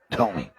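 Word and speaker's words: Thome: Tommy rhymes with homie and has a statue.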